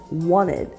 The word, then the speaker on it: wanted: Did you notice that the T in the word wanted is almost silent? This is because it's pronounced with a stop T as wanted.